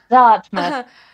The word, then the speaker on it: Dartmouth: I'm gonna guess Dartmouth. Okay, yeah, that's... Kelly pronounced it good. Listen to Kelly. Dartmouth, darling.